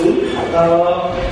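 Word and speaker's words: XUL: The first component that we'll be discussing is Zool, pronounced as Zool.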